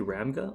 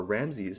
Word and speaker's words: Ramses: a result outside of fc ramga or ramses as we've recently discovered it's pronounced nvf wasn't exactly common